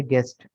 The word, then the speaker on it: guest: ठीक है, अच्छा, इसमें ये जो यू है, इसकी लॉजिक ये समझते हैं कि हमने पढ़ा था कि जी के बाद अगर ई आए या वाई आ जाए तो आवाज़ जीम की बन जाएगी। ठीक है, जी के बाद अगर डायरेक्ट ई आ जाए तो आवाज़ जीम की बन जाएगी। तो इसलिए यहाँ पर यू लगाया गया है ताकि आवाज़ इसकी गाफ की ही रहे।